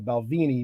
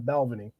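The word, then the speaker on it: Balvenie: a lot more about the balvini not balvening yeah I gotta I gotta pronounce it correctly I got a Brooklyn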